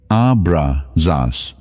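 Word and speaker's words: Abraxas: Abra Zas, pronounced as three distinct tones moving through your body like a wave rising from the earth to the sky.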